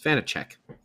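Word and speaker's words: Vaněček: It's Vanacek. Oh, I don't know. This is a podcast where we mutilate names. We just slaughter names over and over again. I think it's Vanacek.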